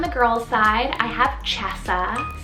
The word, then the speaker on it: Chesa: still keeping on the girls side i have chessa spelt c-h-e-s-a chesa and this one's a latin variant meaning